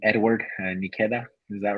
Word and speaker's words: Nketiah: Edward Nikeda, is that right? Nketiah.